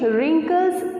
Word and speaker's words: wrinkle: And why I am going to pronounce it like wrinkle? It's written like WRINKLE, right? Wrinkle. So because some type of words, some letters are silent, जिनको आपको pronounce नहीं करना है, fine?